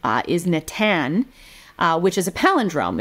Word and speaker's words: Natan: He said his favorite name is Natan, which is a palindrome. It's spelled the same forward and backwards, N-A-T-A-N, either way.